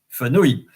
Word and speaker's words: fenouil: So, fenouil, O-U-I-L, ouil, ouil, fenouil, haricot vert, laitue, maïs, oignon, poireau, poivron, pomme de terre.